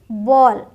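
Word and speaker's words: ball: एल नहीं है बी ए एल एल है बट बोलते क्या है बॉल वॉल फॉल हॉल स्मॉल ठीक हाल फाल स्माल ये नहीं बोलना ऑ करके बोलेंगे ध्यान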